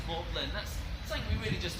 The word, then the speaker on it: Magdalene: We spell it Magdalene today. We pronounce it Morland.